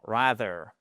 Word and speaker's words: rather: Il y a aussi un autre mot qu'on pourrait utiliser à la place de ces deux là avec un magnifique th pour prononcer. Exact. Exactement. Rather. It is rather.